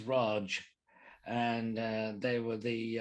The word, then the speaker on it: Raj: the british the raj which incidentally is not pronounced raj it's raj and uh they were the uh uh the